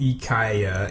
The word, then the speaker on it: IKEA: but did you know the actual pronunciation of ikea is e kya and how do you